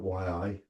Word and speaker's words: yi: The Taiji classics say first with the yi, the yi or the yi, spelt yi, pronounced yi.